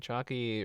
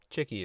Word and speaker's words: Chicky: All right, Chucky really in the tank right now. Deco definitely... Oh, Chicky. Chicky is apparently how it's pronounced.